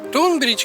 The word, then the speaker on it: Tonbridge: Tunbridge kiejtése és történelmi helyesírása Tunbridge.